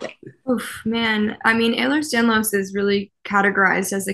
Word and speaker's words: Ehlers-Danlos: So when you found the company, so your history is you're a ballet dancer who has, I never pronounce it correctly, Aeon Delos. Ehlers Danlos.